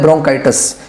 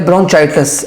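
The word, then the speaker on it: bronchitis: को कहा जाता है ब्रोंकाइटिस या ब्रोंचाइटिस। आप किसी भी तरह इसको जो है ना प्रोनाउंस कर सकते हैं।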